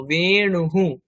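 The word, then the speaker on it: বেণুঃ: বলব বেণুহু বেণুহু অন্তস্থ বকার মধনয় হসকার বিসর্গ বেণুহু বেণুহু বাসি তারপরে চাঁদ মুন চন্দ্রাহা চন্দ্রাহা চ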